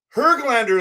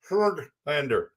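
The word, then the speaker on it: Höglander: some more hog glander her glander is actually how you say it do you guys know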